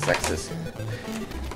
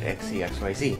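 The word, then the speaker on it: Xexyz: I finally figured out how to pronounce it as Zexus. Back in the first one, I pronounced it XCXYZ.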